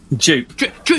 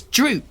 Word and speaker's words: Droop: Dupe. Like the old shave you. It's Droop, but it's just the GM has got a funny speech impediment where he can't pronounce his R's properly.